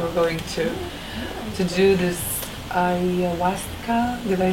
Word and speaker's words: ayahuasca: I wanted to ask you to tell me more about the journey that you were going to do this ayahuasca.